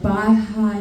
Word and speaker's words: Baha'i: And a friend of mine said to stop at the Baha'i Lounge.